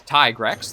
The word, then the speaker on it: Tigrex: they're pronounced such as it's tigrex like tiger not t-rex and rajon or zhang